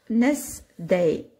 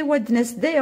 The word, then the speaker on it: Wednesday: Encore pour apprendre ce mot-là, comment l'écrire, vous allez l'apprendre Wednesday. Mais vous n'allez pas le prononcer Wednesday en anglais.